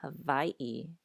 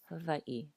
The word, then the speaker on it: Hawaii: But if you do use more of a V sound, it is a softer V than in English. So not Hawaii, but Hawaii.